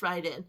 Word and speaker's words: Raiden: Disguised among Raiden's drag tag or I think it's Ryden. It's pronounced Ryden. Um and she says it's from Japanese.